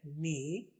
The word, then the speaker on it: knee: میں بتائے جائیں گے, جیسا کہ اگر کے کے بعد این آ جائے تو کے پروناؤنس نہیں کرتے, کے کو نہیں پڑھا جاتا.